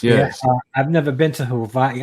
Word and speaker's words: Hawaii: I've never been to Hawaii I didn't know that the W was pronounced with a V I had no clue